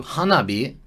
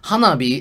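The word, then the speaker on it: 花火: And it combines the characters for hana, which is flower, and hi, the kanji for hi, pronounced bi in the word, bi.Is fire. So hanabi is fire flower.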